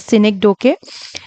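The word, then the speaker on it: synecdoche: Okay, now first one is Cynic Doke. Different people pronounces it differently. इसे साइनिक डोचे बोलता है, अलग अलग तरीके से प्रोनाउंसिएशन करते हैं. सो I would pronounce it as scenic डोके.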